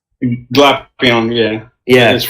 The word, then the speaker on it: Glapion: I think, did you pronounce it wrong? It's Glapion, right? Glapion, yeah.